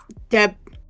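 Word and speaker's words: debtor: You don't have to you don't have to pronounce the the b. It's just d is silent. Yes. D. Wow. Same way you say debt. I have debt.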